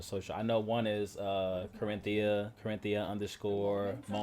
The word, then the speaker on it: Corinthia: It's literally how you say it. Core.